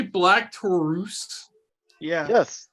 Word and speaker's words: Taurus: did Tom say black Taurus yeah yes they've been saying black tarus I've been seeing Taurus this entire time I mean they're they're going with the Spanish pronunciation like Rush is Rouge